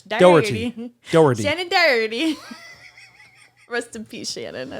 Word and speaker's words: Doherty: Doherty. Doherty. That's what I said. You said it's Doherty. Doherty. You're saying Doherty? Doe. Doe? Doherty. Erty. That's Irish. Doherty. Doherty. Shannon Doherty.